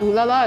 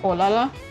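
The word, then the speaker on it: ooh là là: By the way, did you know that in French it's not oo laala, it's ola.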